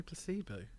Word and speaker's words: Placebo: pronounce a band's name how'd you say placebo did you say placebo no i say placebo oh you say you say it right oh that's good yeah